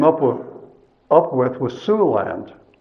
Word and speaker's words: Siouxland: with up with was sue land that's spelled s-i-o-u-x-l-a-n-d now what is it